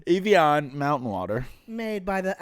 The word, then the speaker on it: Evian: We have some, how do you say this? Evian? Avani. Avani. No, that's not Evian. Evian mountain water.